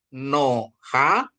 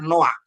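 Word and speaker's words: נֹחַ: Ini bacanya bukan Noha, berarti ini bacanya Noah ya.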